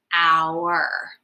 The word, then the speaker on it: our: Like sometimes we see an sound as a ER together, but it doesn't. The sound is just the R. Our.